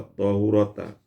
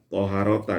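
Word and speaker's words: طهارة: Jadi lafaz toharota tadi boleh dibaca toharota, boleh dibaca tohurota. Wal awal fatu afsah wasyar. Kalau dibaca fathah itu lebih fasih dan lebih masyhur, lebih populer dibacanya toharota dengan fathah.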